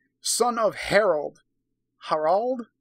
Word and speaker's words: Harald: Harald? Harald. It's spelled with 2 A's.